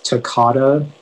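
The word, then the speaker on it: toccata: information yeah so uh the pronunciation is takata it's a noun and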